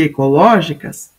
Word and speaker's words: ecológicas: forte a sílaba tônica só que ecológicas não é paroxítona ela é proparoxítona é a anti penúltima sílaba que é a tônica Qual que é a